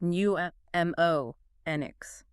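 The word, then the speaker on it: mnemonics: Pneumonics pronounced new m o nx.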